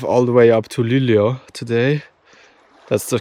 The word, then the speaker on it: Luleå: And honestly, I don't think I'm going to drive all the way up to Luleå today. That's the correct pronunciation I also just learned.